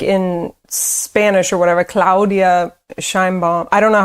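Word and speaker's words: Sheinbaum: Did I pronounce her name correctly? Probably not. No, it's President Scheinbaum.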